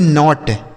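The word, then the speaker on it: knot: तो यहां के साइलेंट है। इसे पढ़ेंगे नॉट।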